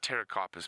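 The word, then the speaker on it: Pterocarpus: it's a Terra carpus well it's actually Terra carpus but it's spelled PT Terra carpus rund Folia so rund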